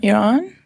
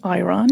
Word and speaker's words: Iran: Yes, I'm from Iran. Mm-hmm. They pronounce it Iran here, but it's Iran.